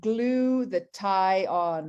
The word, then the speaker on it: glutathione: people repeat you know think about glue the tie on right glue the tie odd if you want to think about how to pronounce it because really so many